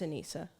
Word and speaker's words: Anisa: Yeah, it's Anissa.